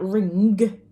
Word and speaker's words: ring: Now, we don't really pronounce the g, do we? We don't say, can you pass me that ring? Okay, we would just say ring.